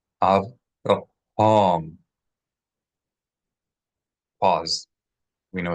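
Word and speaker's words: אברהם: 3 syllables. Avraham.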